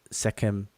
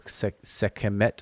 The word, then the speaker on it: Sekhmet: And it's the feminine form of that, Sekhemt or Sekhemet or Sekhmet as people pronounce it.